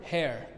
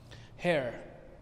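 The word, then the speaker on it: hare: then repeat first word hair it reads like the word hair as in the hair on your head it means a larger open field rabbit hair repeat after me hair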